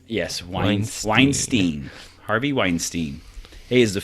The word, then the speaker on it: Weinstein: and that is Harvey Weinstein is how you pronounce that Weinstein Weinstein yes wine Weinstein Harvey Weinstein he is the founder of Miramax